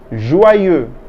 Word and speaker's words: joyeux: How do we spell it? Q, U, E, U, E. Very good. Joyeux means joyful or joyous.